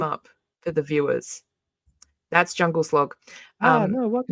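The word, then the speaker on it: Djungelskog: His name is Jungle Slog. He's from IKEA. Uh, he's a queer icon. It's spelled DJ Slog.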